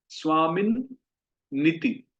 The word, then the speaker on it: स्वामिन्निति: पर इसमें दो न है तो इसको हमें बोलना चाहिए स्वामिन नीति। तो ये संस्कृत के हिसाब से दो न है, तो भक्ति वेदांत स्वामिन नीति, तो दो न है, स्वामिन नीति नामिने।